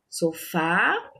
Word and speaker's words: sofá: Sofá, a última sílaba é a sílaba tônica, certo? Então, se é a última, nós chamamos essa palavra de oxítona.